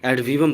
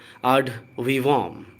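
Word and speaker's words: ad vivum: हम इंग्लिश की नज़र से इसको देखने लगते हैं और एड वीवम पढ़ देंगे, बट ये गलत है। इसका करेक्ट प्रोनाउंसिएशन है आड वीवॉम।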